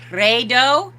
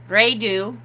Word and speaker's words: Raidho: i do right though so i have heard uh the uh the woman that i watch a lot from norway uh pronounces there it is with a rolled r i do uh and the um what is he the other scandinavian guy that i watch uh pronounces it redo redu and then sometimes rai do depending on what what he's doing are